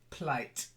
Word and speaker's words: plight: that's it so with a putt nice explosive plight that's better then um this pronunciation was okay but the stress is slightly